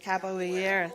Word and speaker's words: capoeira: You guys know how to pronounce it. Capoeira.